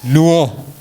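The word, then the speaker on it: Lwo: See the difference? Luo. Luo. That's what our Kenyan friends say. We are Luo. But we always said here we are Luo. You understand? It was L-W-O. They say L-U-O. Even the pronunciation is somewhat different.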